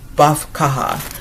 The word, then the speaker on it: Badb Catha: Badb Catha, cuz it's not Badb.